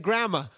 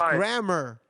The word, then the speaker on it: grammar: see Gramma I said Gramma it's not Gramma it's grammar that's grammar see see look how